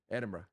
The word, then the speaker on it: Edinburgh: Perth back to Sydney Manchester what's the proper pronunciation of Edenberg I call it Edenberg and I got called out so hard what's